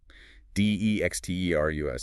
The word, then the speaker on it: dextrous: D E X T E R U S T pronounced dexterus.